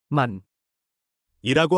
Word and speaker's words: มัน: 태국어에서 그것은 만이라고 합니다. 문보다 짧고 더 선명한 소리로 발음합니다. 미음년을 빠르게 말하는 것처럼 생각해 보세요.